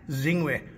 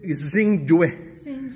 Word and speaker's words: Xingjue: also logo there yeah zingu what why is it called zingu why uh Chinese name Chinese name Sing Sing Sing yeah so you pronounce it zinging not Zing not Shing okay okay and also